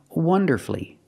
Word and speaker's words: wonderfully: beautifully and he performed wonderfully wonderfully three syllables don't pronounce a u you have two syll